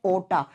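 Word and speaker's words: aorta: और सबसे बड़ी धमनी का नाम होता है ओटा। ए ओ आर टी ए। और हम इसको जब प्रोनाउंस करते हैं तो बच्चा आर साइलेंट हो जाता है। इसको आयोटा या ओटा बोलते हैं।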